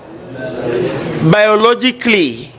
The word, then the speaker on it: biologically: Biologically, A is silent.